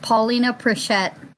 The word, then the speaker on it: Paulina Prichette: Yeah, my name is actually pronounced Paulina Prichette. Paulina.